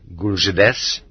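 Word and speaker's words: GULZhDS: one that he be taken out of Gulag entirely and that a new Ze empire be founded, a new autonomous archipelago called Gulits, pronounced Guljides, the chief administration of camps for railroad construction, and that as head of this archipelago there be named Frankl.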